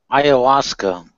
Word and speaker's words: Ayahuasca: Okay, well, just to dovetail it back to what Brojo, what is ayahuasca? Did I pronounce it right? Ayahuasca.